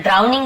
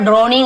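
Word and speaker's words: drowning: ड्राउनिंग का मतलब होता है, बहुत सारे लोग ड्रोनिंग ऐसे ही बोल देते हैं, लेकिन ड्राउनिंग एक्चुअली इसका ड्राउनिंग यानी होता है डूबना,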